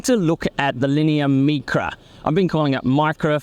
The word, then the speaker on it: Micra: We ended up going with the Italian pronunciation, sticking true to the heritage there. So it's been a bit of messaging there and calling it the Micra, but you're absolutely right.